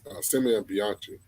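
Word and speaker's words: Simone Bianchi: That's how you pronounce his name, Simeon Bianchi.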